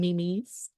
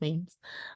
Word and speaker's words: memes: My mom calls them memes, but they are pronounced memes.